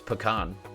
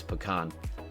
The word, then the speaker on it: pecan: Pronunciation of it's pecan. It's pecan. That's it. That's how you say it. It's pecan.